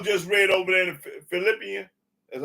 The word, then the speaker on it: Philippians: Go to Philippines. Let me show y'all this cold lie. Is it Philippines? Is that how is I'm pronouncing it right? Philip or Philippines? Philippians, yeah, that's right.